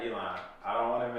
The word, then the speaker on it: Elon: It's Elon, right? Yep. Elon.